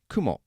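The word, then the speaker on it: くも: and a cloud so both spider and Cloud are pronounced Kumo they're both exactly the same in fact even the pitch accent is high low it's the same which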